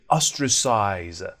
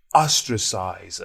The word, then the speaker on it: ostracize: The word that we should use here is ostracize. Ostracize. Pronunciation, 3 syllables, ostracize. So the first syllable is stressed.